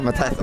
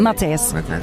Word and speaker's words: Mattis: Yeah, Mattis. I'll take you say your name better. Mattis.